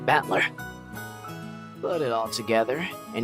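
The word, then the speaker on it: Battler: the characteristics for fight and person and it's pronounced batler put it all together and you've got ushir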